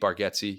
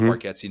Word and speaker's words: Bargatze: And I in a couple of weeks, I just bought tickets this morning to see Nate Bargatze. Yes, it's Bargatze, not Bargatze.